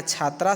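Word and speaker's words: छात्राः: बच्चों, आपको याद होगा मैंने बताया था कि जब किसी भी शब्द के अंत में विसर्ग जुड़ जाता है तो उसका उच्चारण ह की तरह करते हैं। उसका उच्चारण कैसे करते हैं? ह की तरह करते हैं। इसलिए यहाँ छात्रा शब्द में विसर्ग जुड़ गया तो इसका उच्चारण करेंगे छात्रा।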